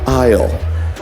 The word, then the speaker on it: aisle: So we're going to walk down the center aisle. Has a silent S in it.